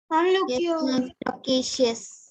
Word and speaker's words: loquacious: Okay, there also you can see like Q-U-A, that particular syllable is stressed. And the first and the last syllable have been, the vowel sounds have been reduced to the short sound.